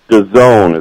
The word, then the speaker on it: DAZN: DAZN is how you pronounce it.